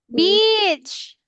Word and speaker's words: beach: Peach peach the fruit. The fruit what what did you see? Beach. You have to pronounce the B beach.